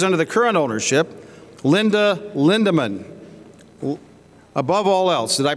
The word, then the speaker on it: Lindemann: NAG TAG has been around for 50 years, 25 years under the current ownership, Linda Lindemann. Above all else, did I pronounce that right, Lindemann?